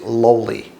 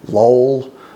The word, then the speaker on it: Loy: just heard me say it is lowly just like it was L WL y and uh that doesn't mean I won't answer to lol or or